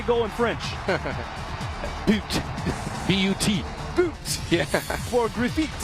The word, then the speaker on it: but: Boot.